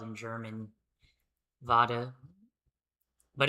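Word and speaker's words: Vater: is spelled in German vada but it's not it's not pronounced with a V, it's pronounced with an F.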